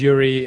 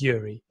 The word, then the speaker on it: Joeri: each other sure so my name is yuri it's full i'm full-time dutch have a russian name but i'm dutch we spell it j-o-e-r-i it's a funny way of spelling it it's yuri um i run a